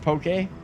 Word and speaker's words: poke: pokey like and and learning that it's actually pronounced pokey.